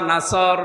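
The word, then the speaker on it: نصر: নুন সাদ র নাসর, নাসর মানে সাহায্য, এখানে সোয়াদ মুখ দল করে উচ্চারণ করা লাগবে। সোয়াদকে সিন দিয়ে বললে অর্থটা আকাশ পাতাল পাল্টিয়ে যাচ্ছে।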